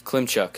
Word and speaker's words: Klimchuk: This guy's name, hard to pronounce. It's like Klimchuk. It's Klimchuk.